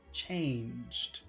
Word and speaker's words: changed: a little help here chain if you can can you say chain chain but then we have to put this awkward sound at the end change change changed changed and what do you think